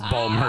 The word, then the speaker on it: Baltimore: He can't pronounce it correctly. It's Balmer for him.